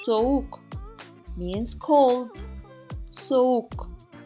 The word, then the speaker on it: soğuk: Soğuk, soğuk means cold. Soğuk. And if you want to know why we pronounce it this way, watch the video about yumuşak G.